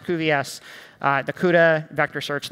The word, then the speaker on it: cuVS: dedicated library that we call CVS that's pronounced CVS uh the Cuda Vector